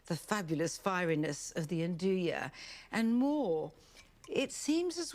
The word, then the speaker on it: 'nduja: it should be pronounced "unduja", but you can remember its correct pronunciation if you think of saying, "Do you want to eat now?"